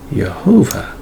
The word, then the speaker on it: Jehovah: is pronounced it's got the full vowel so pronunciation is right there it says jehovah all right and that's the proper name of